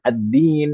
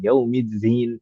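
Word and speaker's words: الدين: Seperti misalkan Maliki yaumiddin, ad-din itu dalnya dibaca dengan zain, yaumidzin, yaumidzin.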